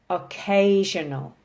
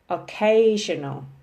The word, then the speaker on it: occasional: The next box when we move across is there are 4 circles, 4 syllables. Emphasis is on the second syllable. And for what we've studied today, we only have one word that fits in this box, and that's occasional.